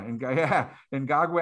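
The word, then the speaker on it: Ngakoue: Another one that I think stands out is who they signed is I can't even pronounce his name. Ngagwe, is it Yannick Ngagwe? Yeah, Ngagwe.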